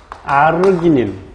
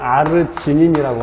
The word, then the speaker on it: 아르기닌: 그래서 이 염기성 아미노산에 의리신, 아르기닌 또는 아르지닌이라고 하기도 해요. 발음상.